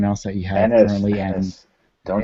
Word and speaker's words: Ennis: film as of right now, with Jewel, with Enos, with everyone else that you have currently, Ennis. Don't say his name wrong.